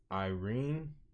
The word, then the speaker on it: IREN: between let me see, between Irene, which is Iris Energy, but it's spelled IREN as far as the handle for it.